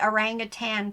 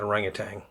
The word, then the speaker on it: orangutan: So we always pronounce that orangutan. But there ain't no G on the end of it for sure. Not. I catch myself wanting to say orangutan, but it ain't.